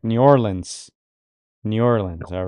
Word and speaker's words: New Orleans: He says the first way to pronounce this correct, New Orleans.